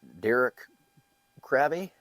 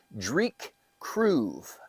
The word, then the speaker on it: Dreich Cruive: how to say it because I was like is it Derek Krabby I wasn't real sure but it is I made little phonetic type uh spellings it is Drake kroo that is Dr kroo